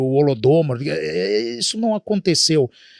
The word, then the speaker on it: Holodomor: aqui falamos Holodomor, eu não sei se a pronúncia é Holodomor. Correto, Ricardo. Holodomor.